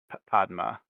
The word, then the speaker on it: Padma: nisei pronunciation guide but I would say Padma instead of like PUD you know yeah pod pod Padma yeah pogma is Mister